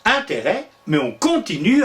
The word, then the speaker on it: intérêt: Au début, il se prononce interest, un peu comme les Anglais qui eux aussi d'ailleurs se sont inspirés des Romains. Et puis peu à peu, ce interest va acquérir sa prononciation actuelle, intérêt. On prononce intérêt, mais on continue à l'écrire avec un S.